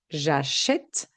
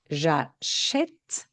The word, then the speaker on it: j'achète: contre, quand la finale est muette, qu'on ne prononce pas la terminaison, nous allons dire j'achète et nous mettons un accent sur le est et la prononciation est différente. Vous entendez bien, nous achetons le son E, j'achète le son est, E et est.